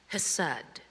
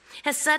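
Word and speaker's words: חסד: Chesed is the Hebrew word that I'm not pronouncing correctly because it has this really harsh, throaty HCH that would probably break the microphone, so I'll just leave it alone in its English transliteration.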